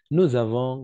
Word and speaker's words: nous avons: J'ai, tu as, il a, elle a, on a, nous avons, vous avez. Et n'oubliez pas faire la liaison ici, d'accord? La liaison, prononcée comme un Z.